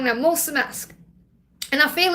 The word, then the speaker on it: mulțumesc: I thought, if there's just one word I can learn when I go there, it's thank you, and it's mulțumesc. I'm saying it wrong now, mulțumesc.